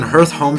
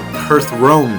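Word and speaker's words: Hearthome: when I was younger, I would always pronounce it Hearth Rome City. And when I was older, I reread the text and I was like, oh, I'm dumb.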